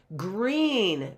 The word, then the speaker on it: green: Two vowels go walking. The first one does the talking, right? And so we've got a long E there for green.